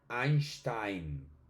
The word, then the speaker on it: Einstein: Por ejemplo, vamos con con el apellido de uno de los científicos más famosos de toda la historia, Albert Einstein.